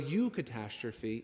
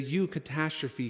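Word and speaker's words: eucatastrophe: does something important and he puts this u in the beginning of catastrophe and this u isn't you it's spelled eu and it's the same you in the beginning of eucharist this is something good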